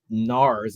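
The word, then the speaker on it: Gnarz: Gregory he is uh at Nars a silent G one of those guys g n a r z Tyler t l e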